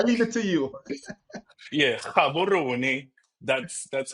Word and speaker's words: Gaborone: Yeah, Gaborone.